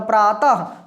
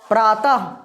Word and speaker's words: प्रातः: हैं विसर्ग कहते हैं तो प्रातः ह ह की तरह उच्चारण हो रहा है पढ़ो प्रातः अतः अतः ऐसे होता